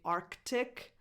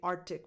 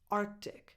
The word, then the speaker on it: Arctic: That C is technically not supposed to be silent. So what I suggest is somewhere in the middle, Arctic.